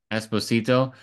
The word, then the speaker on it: Esposito: Giancarlo I don't know how to pronounce his last name. Esposito. Esposito.